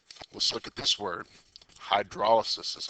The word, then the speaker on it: hydrolysis: Hydrolysis is how you pronounce that.